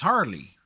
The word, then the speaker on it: Harle: to pronounce her name it's harley like as in harlequin uh holly give me